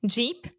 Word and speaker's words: Jeep: Jeep, sheep. Yeah. So sheep, ovelha, has the SH sound, sheep. And then Jeep has the Jeep.